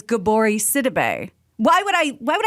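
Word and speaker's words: Gabourey Sidibe: it's spelled jesus but when she was on interviews after precious came out they were saying her name was gabori sidibe why would i why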